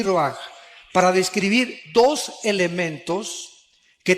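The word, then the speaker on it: רוח: con r de Raúl a c h se pronuncia roag por ejemplo cuando hablamos del Espíritu Santo El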